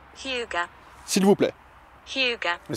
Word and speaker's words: Hygge: Ige. Non. Ige. Alors, Hyuga. voilà, ça se prononce comme ça, Hyuga.